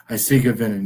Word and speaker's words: Eisige Venen: And I hope I pronounce it. Is it Eisige Venen? Eisige Venen, yep.